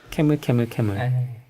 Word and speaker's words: camelcamelcamel: 어차피 한 이 20분 캐물 캐물 캐물이라고 읽어야 되는 거잖아요. 네. 캐물 캐물 캐물.